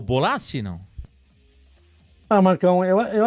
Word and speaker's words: Bolasie: negócio de pronúncia né mas eu acho que é o bolace a pronúncia correta fez uma ótima temporada